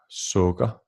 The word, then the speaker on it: sukker: The vowel sound U lowers down to O, as in luft, sukker, and dum.